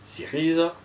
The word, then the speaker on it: Syriza: La Nea Dimokratia, ça c'est donc la nouvelle démocratie, Syriza, Riza, il faut marquer le R, la Rissi, donc dorée, Afri, voilà, Laos, etc., etc., etc.